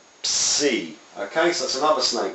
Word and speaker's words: psi: But it's pronounced ps, psi.